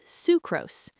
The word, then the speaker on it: sucrose: Then we have sucrose. This one is pronounced sucrose, again with a long oo sound, like in Sue.